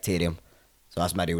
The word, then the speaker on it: Taryam: how you say it that's how my family say my name is like tyrion so that's my real